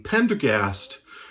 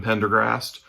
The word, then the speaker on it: Pendergast: as they keep writing pendergast novels and I I'm sure I've screwed up the pronunciation and called him Pendergrast but it's Pendergast Aloysius Pendergast such a